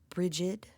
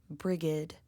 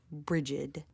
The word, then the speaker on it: Brigid: Depending on which study you might be a part of, the following name is either pronounced bridg, which is considered modern Irish, or brigid, which is considered old Irish.